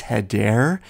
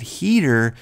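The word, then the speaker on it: Hedare: so let's get to Rachel's 3-pointer Christian actually mispronounced the villains last name in the question its head air he said heater and while it wouldn't have made much difference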